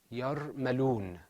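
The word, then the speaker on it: يرملون: That word is pronounced yarmaloon.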